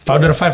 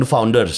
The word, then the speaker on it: Founder Five: Founder Five bacanya. Oh founder five. Oh bukan The Founders.